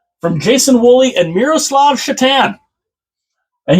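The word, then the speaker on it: Šatan: Jason wooly and Miroslav chatan and yes it is spelled Satan but it's pronounced chatan so it's one to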